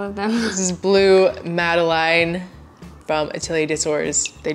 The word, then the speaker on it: Madeleine: Madeleine.